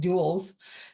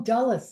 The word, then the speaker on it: Dulles: up at Dulles Airport, which I know is not pronounced Duels, because that's what it looks like. Right? Because I'm like, and Linda's looking at me, where are you going? I don't know where that is. And I'm like, Duels. And she's like, oh, Dulles. And I'm like, oh, there you go. That's how it's pronounced.